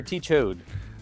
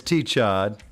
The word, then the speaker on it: T-Chad: Yeah, but it's T-Chad, Chad, like CH odd.